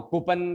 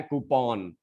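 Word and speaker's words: coupon: फिर से बताने जा रहा हूं, कूपन का जमाना गया, अब है कूपन।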